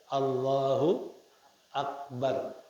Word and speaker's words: Allahu akbar: sukun atau harakat seperti Allahu akbar sukun atau Allahu wakbar Allahu wakbar harakat kalau diucapkan Allahu akbar Allahu akbar itu adalah falau